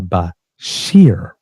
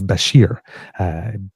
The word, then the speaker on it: Bashir: named uh now listen be be careful the pronunciation here it's Muhammad Al Bashir because I just got rid of Al Bashar so not the same place so it's Basher B- a s h i r um according